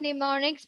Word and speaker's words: mnemonics: And the spelling of mnemonics, please don't make a mistake. Mnemonics. Mnemonics. M is silent there.